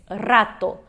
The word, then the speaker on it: rato: Porém, quando a gente começa no espanhol, às vezes não sai esse R forte, a gente não sabe muito bem a pronúncia do R e quer fazer o R do português.